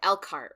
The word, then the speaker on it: Elkhart: Let me say this right. Elkhart, right? That's how you say it. Elkhart, Yes.